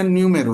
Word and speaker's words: Nuomhero: एम एच ई आरओ लेकिन यह pronounce किया जाएगा न्यूमेर यानी कि न्यूमेर का